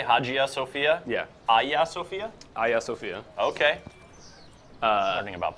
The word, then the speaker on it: Hagia Sophia: Yeah, Hagia Sophia? Hagia Sophia. Okay. Learning about pronunciation.